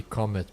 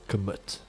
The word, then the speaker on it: Comet: even know how to pronounce the name right. It's meant to be Comet, but now it's all commit over at commit.